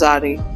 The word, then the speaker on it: Zari: So in Portuguese, it will still be pronounced Zari.